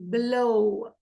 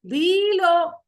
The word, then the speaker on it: below: Below. Below. Below. Nope, no. सुनने में भी कितना अजीब लगता है. Below. No. Below. So, we're stressing on the second syllable.